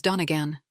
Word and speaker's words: Donigian: His college roommate, Al Donigian, pronounced his Donegan.